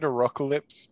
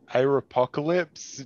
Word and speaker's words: Arocalypse: Momo: I pronounce arocalypse but I've heard people say "aropocalypse" just– out of accidents, because...